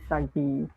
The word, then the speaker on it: Sugi: Hi, Sugi. Hi guys. Actually, it's pronounced as Sagi.